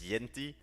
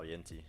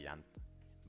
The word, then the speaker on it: Yente: Like you will you will question me more if I say my name is Yente. Uh if you but yeah, oh well, Yente. Some people say Yan.